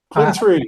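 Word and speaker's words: Qwen: Uh, Quen, Quinn, Quinn or Quen, I'm not sure how to pronounce that. Quen 3.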